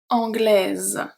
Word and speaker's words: anglaise: Anglais, anglais, anglaise, Z, because the S between two vowels is pronounced as a Z.